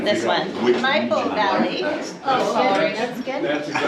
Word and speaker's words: Maipo: Maipo, yeah.